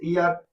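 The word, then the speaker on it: heir: इसके बाद और दिया हुआ है जैसे ईयर, ईयरस। देखिए इसको ईयर नहीं पढ़ देना, ये एच साइलेंट होता है, इसको ईयर पढ़ा जाता है।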